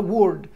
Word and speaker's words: word: خلي بالك الكلمة دي نطقها word.